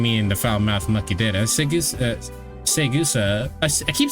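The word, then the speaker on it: Saegusa: Segusa, I keep saying her name correctly, but it feels like I'm saying it wrong.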